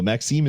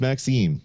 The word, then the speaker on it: Maxime: wait by the way you pronounce my name correctly so Maxime is Maxime so there we go